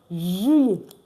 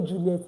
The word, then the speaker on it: juillet: So July is pronounced juillet. Juillet. Juillet. Juillet. Please don't say Juliet again.